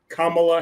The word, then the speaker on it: Kamala: You have to say it right. Kamala Harris. Don't mess it up. Kamala Harris. You got to say it the right way.